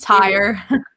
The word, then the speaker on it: Tyr: Trier? I don't even know. Something with a T. Tyre. So it's Tyre.